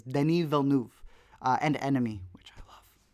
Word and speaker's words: Denis Villeneuve: I'm pronouncing it in his French, because I think he's from Quebec. I'm not sure where he's from, but it's Denis Villeneuve.